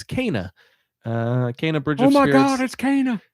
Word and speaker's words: Kena: We were pronouncing it both wrong, Kena and Kenna, but it's Kena.